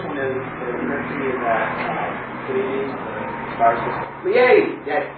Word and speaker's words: Pleiades: First one is the currency that Pleiades, the star system, Pleiades, yes. could also be pronounced play at ease.